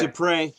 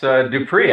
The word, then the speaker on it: Dupree: This is Dupre. Yeah, it's Dupree, actually. Dupree, but, I'm sorry. Pretty close. Pretty close. You didn't pronounce the final Z, which is silent, so hey, there you go.